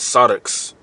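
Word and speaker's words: σάρξ: All right, this word carnally is sarx. All right, that's how you pronounce it in the Greek.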